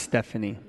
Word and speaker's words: Stefani: It's actually, Henry, it's actually pronounced Stephanie.